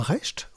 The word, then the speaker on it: Recht: En effet, Robin Rest, oui, c'est comme ça qu'on prononce, on s'est tous fait avoir.